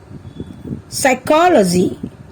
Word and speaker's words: psychology: উচ্চাৰণ উজ্জ হৈ আছে let's find out the words where P is silent এতিয়া মই তোমালোকক এনে কেইটামান শব্দ কম যিকেইটা শব্দত Pৰ উচ্চাৰণ উজ্জ হৈ থাকে the words are receipt psychology psycho cupboard psychiatrist pneumonia let's find out some other